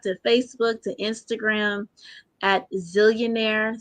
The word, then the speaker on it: Zeallionaire: Facebook to Instagram, at Zillionaire. So that's ZEALLIONAIRE. It is not ZILL. Even though I spell it, people are like ZILL, ZEAL. 2 L's.